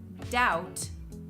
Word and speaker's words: doubt: long time ago when people would pronounce the B in these words but over time this has changed and we no longer